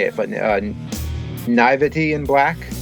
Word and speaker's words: Naïveté: to say it, but Naïveté in Black. It's that funky word. It looks like nativity, but it's Naivety in Black, maybe.